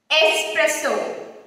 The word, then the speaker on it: espresso: Espresso. It's espresso. Sa, sa. Not ex. It's not espresso. No sound of X is made while we pronounce this word.